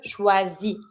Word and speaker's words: choisis: Je choisis. I'm not going to pronounce my S, it's not an R. Je choisis, tu choisis. It's going to be the same ending, IS. I'm not pronouncing the S.